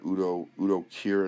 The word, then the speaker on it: Udo Kier: You still got Udo Kier in it. That's how you pronounce his name.